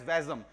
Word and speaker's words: WASM: the sort form is wasm which is pronounced as vasm so Blazer vasm SQL